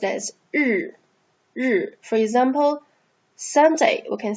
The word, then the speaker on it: 日: Sun is pronounced as 日.